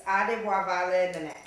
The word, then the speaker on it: Adebowale Nenet: You're going to have to say your name on your own because I cannot pronounce it. How you say it? It's Adebowale Nenet.